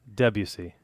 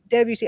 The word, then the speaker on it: Debussy: How do you pronounce the guy's name? Debussy. Debussy.